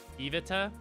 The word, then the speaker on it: Iveta: them no but uh Eve Oh Iveta is how you pronounce it what was her name